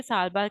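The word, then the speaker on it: Tha'labah: सालबा के कबीले के ये इसको हम जो प्रोनाउंस करेंगे साल बार कहेंगे ठीक है सिटिंग बैठे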